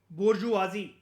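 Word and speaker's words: bourgeoisie: नाम है दो एक नाम वो बोलता है बोरजुआजी बी ओ यू आर जी ई ओ आई एस आई ई ये स्पेलिंग होती है इसकी बोरजुआजी की मैं आपको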